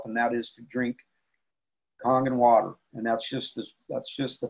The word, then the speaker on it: Kangen: a Japanese word that's spelled K-A-N-G-E-N, but it's pronounced K-O-N-G-E-N, Kangen. And it means return to origin. And so I always have to correct people when they're out there saying Kangen water, because it's not Kangen water, it's Kangen water.